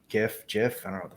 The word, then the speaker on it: GIF: I posted a goat gift if you pass that around here sir we pronounce it the correct way gif yeah yeah so it's not the peanut butter it's yes exactly see